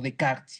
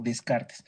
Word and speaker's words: Descartes: en aquella época que era descartes o de karts y lo si lo pronunciamos en francés pero lo conocemos más como descartes el gran descartes crearon